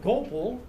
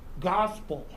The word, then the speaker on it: Gopal: Instead of Gopal, he called me Gospel, and always asked if I knew what it meant.